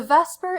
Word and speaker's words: VSEPR: The vesper and vesper theory is an acronym which is why it looks like it's spelled so funny and it doesn't really look like a word.